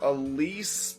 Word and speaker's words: Alys: And yeah, I'm gonna call her Alys because YS is pronounced East in the YS East game series, so you put all in front of East, and yeah.